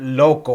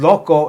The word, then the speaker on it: loco: So many times the language is transferred over, and loco is one of those words that most people in California at least know what loco means. I guess you could say loco, but it's pronounced more loco.